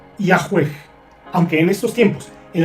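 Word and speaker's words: Yahweh: aún con esa actitud los eruditos modernos conjeturan que originalmente se pronunciaba y a juez Aunque en estos tiempos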